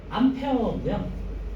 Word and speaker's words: 암페어: 아니는 암페어고요. 요거를 이제 이것도 마찬가지로 불어 암페르에서 유행했고요. 유행이 아니라 암페에서 그중에서 딴 거예요. 자 그래서 암 암페르 암페어 암페르 암페어라고 했고요. 자 기억하세요. 읽는 방법 암페 어라고 읽고요.